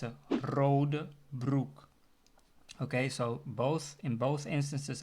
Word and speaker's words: rode broek: The color red, the R is the first letter of the word. That means I can also use the second pronunciation of the R, which is the R, right? The second one. So I can say rode broek. Okay? Instead of rode broek, I can say rode broek. Can you hear the difference? So that's with the gargling sound.